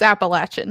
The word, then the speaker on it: Appalachian: It's Appalachian. You said it right.